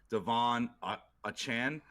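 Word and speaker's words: Achane: Well, why would Miami give anything up with Devon Achan, I believe is how he wants his name pronounced now.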